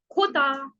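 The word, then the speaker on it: jota: Last है हमारा वो पंजाबी वाला, खोता। खोता, ख से खोता, और इसकी साउंड वर्ड्स में रहेगी ख।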